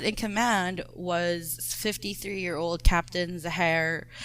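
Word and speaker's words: Zaharie: The pilot in command was 53-year-old Captain Zahar. The spelling is Zahari, but the videos that I've watched all pronounced it as Zahar. But the videos that I also watched were all Western.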